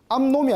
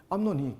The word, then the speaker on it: 암논: 암놈이 지거든요 압살롬이 있었습니다이 암놈은 암놈이 아니고 논입니다 죄송합니다 제 음이 발음이 안 좋아가지고 아 이거 참네 이거 논입니다 암논이 굉장히 정욕이 탐욕 정욕